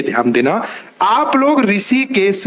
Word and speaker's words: ऋषिकेश: इसी हा को ही हम री पढ़ते हैं, ऋषिकेश पढ़।